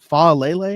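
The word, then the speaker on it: Faalele: How do you Falele? You pronounce the entire Lele.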